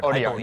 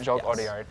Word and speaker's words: Jacques Audiard: I think if I pronounce it right, is it Jacques Audiard? Audiard. Yep. Jacques Audiard.